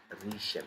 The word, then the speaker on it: riechen: When IE, the combination of IE is going to be pronounced as E. Example, we have Riechen. You see, observe the sound.